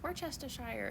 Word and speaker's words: Worcestershire: somebody was like it's Worcestershire it's like no it's Worcestershire sauce it's not how it's spelled but that's how it's pronounced it was like top